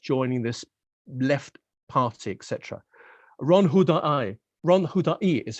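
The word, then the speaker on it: Ron Huldai: Ron Hudai is how you pronounce it, actually.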